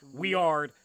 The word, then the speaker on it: Wiard: First off, the name of the gun, Weard. Stupidest name Can ever. you spell it? In the it's like Wiard. Weard. And so it's not like a German word.